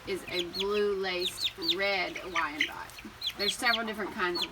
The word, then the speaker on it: Wyandotte: And I think I said the name wrong to the first one. The first one is a blue laced red Wyandotte.